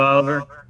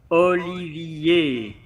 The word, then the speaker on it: Olivier: And is it Oliver or Olivier? Olivier. Okay. Well, it's spelled Olivier. So, Of course, it's just to let you know you are not the first to make these mistakes.